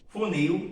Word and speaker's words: funil: Funil, terminação em IL, funis. Também é uma palavra oxítona, a sílaba tônica é a última.